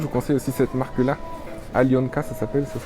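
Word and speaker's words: Алёнка: Alionka, ça s'appelle, ça se prononce Alionka.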